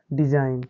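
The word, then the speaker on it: design: करेंगे जैसे एन ओ एम ई क्या हो जाएगा बच्चों नोम फिर आगे एफ ओ आर ई आई एन क्या हो जाएगा फॉरेन इसी प्रकार आगे आर ई एस आई N region फिर डी आई एस आई एन क्या हो जाएगा बच्चों डिजाइन तो इस प्रकार बच्चों हम जी वाला समझ सकते हैं कि कहां जहां पर एन से पहले क्या आया है जी आया है तो यहां उदाहरण में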